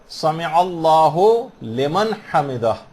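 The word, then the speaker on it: سمع الله لمن حمده: عام طور پر لوگوں کو دیکھا گیا سمع اللہ لمن حمدہ یہ پڑھتے ہیں، اس کو ہو لمن نہیں ہے، سمع اللہ لمن حمدہ.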